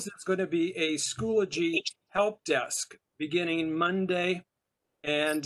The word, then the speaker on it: Schoology: But most of the time nowadays they say Schoology in 3 syllables.